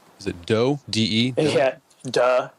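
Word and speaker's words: 德: Duh. It's duh. actually pronounced duh, like no duh.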